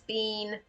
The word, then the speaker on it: Bean: Wood, Bean doesn't have one yet, and yes, their name is Bean, pronounced like the word bean.